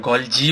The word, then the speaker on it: Golgi: इसको गोल्गी bodies बोलते हैं, गोल्जी बोलते हैं, कोई गोल्गी बोलता है, जो प्रोनाउंस करना चाहे। मैं गोल्जी प्रोनाउंस करता हूँ।